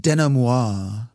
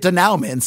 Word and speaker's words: denouement: This is also where I get to be all bougie and remind you that it's pronounced denouement.